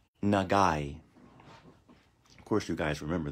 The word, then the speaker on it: 長い: the hilagana symbol okay basically this is like a letter i okay it's pronounced e nagai like this nah